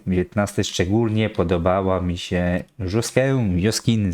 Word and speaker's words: Joskin: mi się bardzo podobały 19 szczególnie podobała mi się Joskin w zależności jak to wymawia od będę mówi joskin żoskę jak już tak będzie po francusku ta żoskę mi się podobała zawsze.